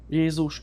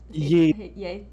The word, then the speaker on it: Jézus: Jézus szeret téged. Yes, we spell Jesus like that. How do you say it in your language? Jesus. Jézus.